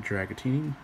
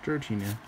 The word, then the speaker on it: Dratini: A Dratini. Not Dragatini, Dratini.